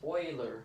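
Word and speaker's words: Euler: explore what this is also called pronounced boiler okay so Oilers number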